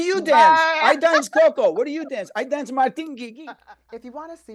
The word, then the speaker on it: Guigui: I'm gonna say it like how we say it at home. Martin Guigui.